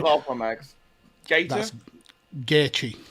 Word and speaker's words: Gaethje: I mean, I can't pronounce that last one, Max. Gator. That's Gaethje. Gaethje.